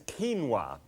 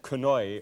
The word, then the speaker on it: quinoa: to deal with is quinoa and uh q-u-i-n-o-a and you might have pronounced that kanoi or something like that I used to and